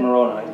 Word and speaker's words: Moroni: Moroni.